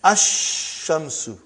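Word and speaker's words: الشمس: And then ash-shamsu. No al, no lam.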